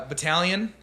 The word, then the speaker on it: Battalion: baby um so yeah Battalion that's me I spelled it earlier go back type it in I know it it's weird it's Italian silent G real J's moving silence Lil win like lasagna like Battalion like Italian um